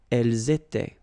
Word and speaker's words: elles étaient: And then remember, this is not pronounced. Elles étaient.